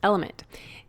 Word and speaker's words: LMNT: sponsors LMN element it's spelled LMN T but pronounced element if you haven't heard